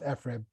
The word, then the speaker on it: FRIB: I know it is pronounced FRIB. I work there. You have to trust me, okay?